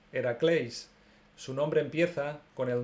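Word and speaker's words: Ἡρακλῆς: Sobre Hércules, llamado también Heracles, nos dice que en griego es Heracleis.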